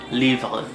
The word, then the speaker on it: livre: And our next noun is livre, livre, livre. The end is kind of like really fast, like really subtle too.